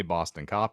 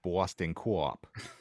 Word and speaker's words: Boston Co-op: am correcting your pronunciation it is not a Boston cop it is it Boston Co-op you're right I apologize